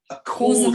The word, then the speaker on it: causal: Establish a Causal. causal, not casual, Causal. be careful.